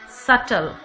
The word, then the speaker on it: subtle: Subtle, B is not pronounced here. B is silent.